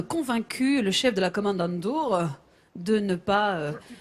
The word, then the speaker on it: Kommandantur: a quand même convaincu le chef de la Kommandantur de ne pas... Tu prononces bien Kommandantur.